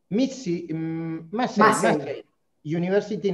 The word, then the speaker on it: Massey University: Se pronuncia Massey University, Nueva Zelanda, licenciada en Comunicación Social de la Austral.